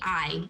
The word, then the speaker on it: Aille: So that's a common question that we get, is why is it spelled similar to the pronunciation of ale, but pronounced I?